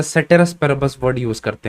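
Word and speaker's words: ceteris paribus: Serratus पेरेबस, सेटेरस पेरेबस भी बोल सकते हो, एक्चुअल स्पेलिंग तो यही होता है, यहाँ पे लिख दे रहा हूं, सेटेरस पेरेबस, सेटेरस पेरेबस। अब कोई लोग सेरेटस पेरेबस भी बोलते हैं, तो उससे तुम्हें मतलब नहीं है, इस चीज को कंसिडर करना।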